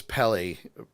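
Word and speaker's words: Peli: So, and I actually think it's Pelly, not Peel. I think I pronounced it wrong.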